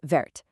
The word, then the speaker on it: verte: chemise verte.